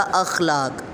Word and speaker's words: اخلاق: 5 ہے اعراب لگانا۔ اعراب آپ تلفظ کے مطابق لفظ کو لگاتے ہیں، یعنی اخلاق، جیسے میں نے اس کو بولا اخلاق، تو الف پہ زبر، خا پہ جزم، لام الف لا پھر زبر کے ساتھ، اور کاف نقطوں والی